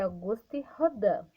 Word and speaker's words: Auguste Rodin: rodin adam é ali se escreve auguste rodin mas a pronúncia é august rodando certo é só uma